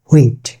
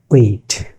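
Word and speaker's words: wheat: শিখেছে বাট not sure এর উচ্চারণ হচ্ছে উইট ইটস নট হুইট ইটস উইট ইটস নট হুইট ইটস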